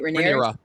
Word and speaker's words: Rhaenyra: Rhaenyra. Thank you. Rhaenyra. Welcome. How you're saying Rhaenyra's dad, and so Rhaenyra felt some kind of way about that, and then Alicent getting mad because Rhaenyra had sex with Sir Cole, and finding out